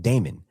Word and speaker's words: daemon: Named Demon, basically. Yeah, it's named Demon. I've always thought it was really strange, but a file will have demon, or So- it's pronounced Damon.